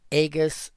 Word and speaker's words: Aegis: It was, this is why it's called gamma and not jamma. So it was a hard G. And Latin had no soft G.